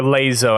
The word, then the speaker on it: Lasso: With a lasso, or Lazo as it's technically pronounced for Halo.